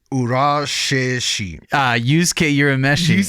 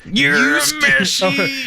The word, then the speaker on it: Urameshi: Versus, now I'm going to give this my best shot, Yosuke Urashishi. Yusuke Urameshi. Yusuke Urameshi? But you have to say it like this. Urameshi.